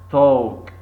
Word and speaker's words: talk: W silent here five talk talk to L silent very good six wood